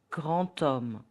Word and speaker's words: grand homme: D becomes T, grand homme, a tall man. So the correct pronunciation will be grand homme.